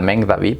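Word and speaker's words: Magen David: Y ese sello es muy peligroso porque en sí la estrella de Meng David, que, bueno, no es estrella, es la Meng David, que así se pronunciaría, básicamente está alineada con los 12 vértices del planeta.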